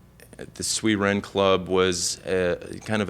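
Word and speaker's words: Sui Jen: it and opened it up as the it's pronounced the sui Ren Club um it's at the sweet Wren Club was a kind of a Japanese type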